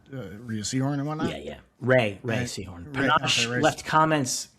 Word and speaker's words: Rhea: I've seen interviews with her where they call her Rhea. They are saying it wrong. It's Ray. Listen to the other people involved in the show talking about it. It's Ray.